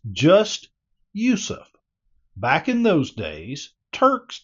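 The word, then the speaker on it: Yusuf: spelling of his name the Turkish spelling of his name is Yousef y u s UF Yousef spelled like the word youu y o u s o UF was the common spelling used in France while yof yet another spelling I've seen with two s's in it was the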